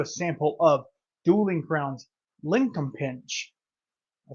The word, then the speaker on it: Linkumpinch: we're getting into a sample of dueling crowns linol pinch I said it right I know I did